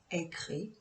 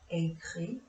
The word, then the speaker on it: écrit: For je, tu, il, elle, on, the S or T isn't pronounced.